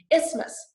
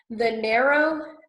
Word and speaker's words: isthmus: Okay, isthmus, isthmus, a narrow bridge of land, isthmus. Okay, that one, there's that silent TH in the middle.